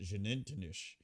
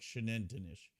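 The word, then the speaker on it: Xunantunich: And they said in Mayan the X is pronounced like sh. So, it's like Shannonish.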